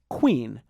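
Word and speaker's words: quean: That word is queen, but spelled q u e a n. Even though this queen is pronounced just like the word for a king's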